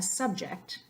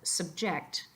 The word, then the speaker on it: subject: You're mostly pronouncing each individual letter the same, but you're putting extra emphasis on a different syllable. And the last one there, a subject as a noun, but subject as a verb.